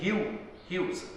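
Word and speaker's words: Hughes: लेकिन इसके बारे में थोड़ा सा बता दूं, ये जो लैंगस्टन ह्यूज, प्रोनाउंसिएशन इसकी ह्यूज, लैंगस्टन ह्यूज, इसमें थोड़ा सा अफ्रीकन टच है,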